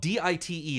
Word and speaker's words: Dite: And the world is spelled D-I-T-E. It's Dite. That's, like, Dite.